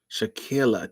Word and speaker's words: Shakilla: Shakilla. Damn, I said it wrong. Shakilla. Shakilla. Dang. Not she a killer.